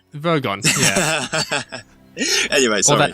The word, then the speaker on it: Vogon: It's pronounced Vogon. Vogon, yeah.